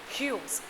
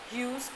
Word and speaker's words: Hughes: True Family by Ted Hughes. Now, whether you call Ted Hughes or Ted Hughes, both the pronunciation can be done.